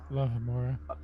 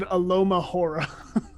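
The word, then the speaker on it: Alohomora: are you is that how you say it alohamora alohamora I definitely said Aloma hor God go two British kill me me perhaps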